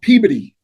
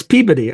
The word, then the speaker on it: Peabody: Yeah, it's spelled Peabody, but anybody who comes outside would call it Peabody, but you use it Peabody. So Peabody. Right. So somebody says Peabody, they've never. It's not right.